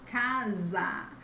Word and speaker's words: casa: We have the S between vowels. Then the sound is like Z in zebra, mesa, casa.